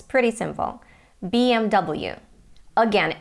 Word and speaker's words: BMW: English letters pretty simple BMW again it's a German brand and they say BMV but BMW in the you and Great Britain and now again a